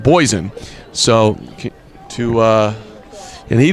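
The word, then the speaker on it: Bogessen: the bulk of the action but also mike boyzen getting some action as well number seven his last name is spelled b-o-g-e-s-s-e-n but it's pronounced poison so to uh and he did a nice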